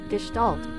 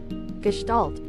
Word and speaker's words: Gestalt: And this is the American pronunciation. Gestalt. Gestalt. So, I've been saying it wrong anyway, even in English. Gestalt.